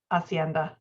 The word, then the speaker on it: hacienda: also a type of Hacienda Hacienda I guess the age isn't pronounced nice okay so now that